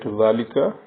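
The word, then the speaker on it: ذٰلِكَ: And once again it is to be noted that when we write ذالika, alif is not written after zal.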